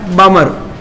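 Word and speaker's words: Balmer: बाद में कौन आया बामर ल को साइलेंट रखेंगे लेमन वार्मर अगला आता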